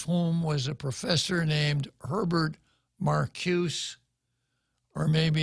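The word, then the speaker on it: Herbert Marcuse: was a professor named Herbert Marcus or maybe it's pronounced Herbert Marcus it's a German name and a final e in German sounds like ah in English so Herbert Marcus said what we need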